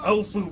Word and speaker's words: Ofu: That's Ofu rhymes with tofu.